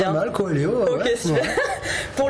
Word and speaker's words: Coelho: Je prononce bien ? Pas mal. Comment on dit bien ? Pas mal, Coelho.